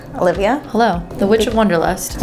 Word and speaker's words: Wonderlust: hello The Witch of wonderlust I always say your name wrong I go to the witch of Wanderlust oh yeah because it's